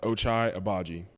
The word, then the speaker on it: Ochai Agbaji: All right, for all the people that don't know my name and how to say it, it's pronounced Ochai Abaji.